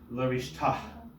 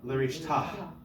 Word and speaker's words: L'rishta: So this would be pronounced L'rishta. Did you hear that? L'rishta. Not a ch by any stretch. Even further back in our